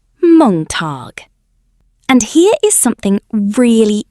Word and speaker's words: Montag: Montag is pronounced Montag.